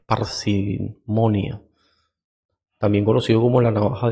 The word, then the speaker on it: parsimonia: así principio ya de panimon s parsimonia creo que no lo pronuncié tan mal yo dije pan verdad es parsimonia también conocido como la